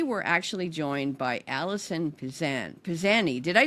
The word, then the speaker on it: Pizanie: Journey So today we're actually joined by Allison pisan pisan did I say it right you did pisani yes pisani okay so it sounds Italian is